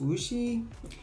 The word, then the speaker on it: Wuxi: I fell in love with food for the first time over in Wuxi, China. Okay, it's pronounced Wuxi, but yeah, that's where I fell in love and lost 30 pounds without even thinking about it.